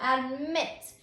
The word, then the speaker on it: admit: So when you say the word admit, you can hear that the strongest syllable is on that last syllable, admit, before you add the suffix.